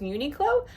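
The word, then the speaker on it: Uniqlo: went to uni uni I believe it's a port mono of unique clothing which would suggest Unico but in Japanese you don't put stress in any syllables so it would be more of a unique clo I don't know anyway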